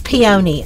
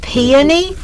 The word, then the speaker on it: peony: is to spell, and y'all are saying it wrong. It's peony. I know, I understand that in other parts of the world it's probably pronounced peony, but here in Alabama it just comes real natural, and obviously in Texas too, because Robbie says peony as well.